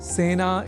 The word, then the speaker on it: सेना: करना चाहिए क्योंकि सेना में स इस अक्षर के बाद ए इस अक्षर का प्रयोग हुआ है। अतः सेना इस शब्द के उच्चारण में ए इस स्वर वर्ण या अक्षर का ही प्रयोग किया जाना चाहिए ना कि ऐ का।